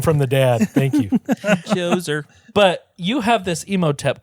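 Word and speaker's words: Djoser: Let's go back to Joser's pyramid. The step pyramid. I like the name Joser. Uh yeah, spelled with a D. It's silent.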